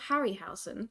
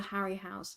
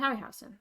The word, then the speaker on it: Harryhausen: on the piano so the piano is a Harry house Harry Harry harryhausen harryhausen I think it's pronounced happy harryhausen I read it as Harry house when I